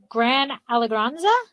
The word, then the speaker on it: Gran Allegranza: And my last question is dealing with your, and I'm going to say it wrong, Gran Allegranza? Correct.